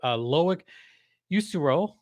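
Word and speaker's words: Loïc Usereau: Oh, this is the one that I actually did not get the pronunciation for. Loic Usuro. I cannot pronounce that, but it's spelled Usereau. So Usuro, Earl Vakanainen, Noah Warren, and Olin Zellweger.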